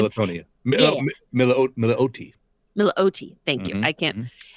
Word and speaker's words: Milioti: And Kristen Militoni. I think that's how you pronounce her last name. Militonia. Milioti.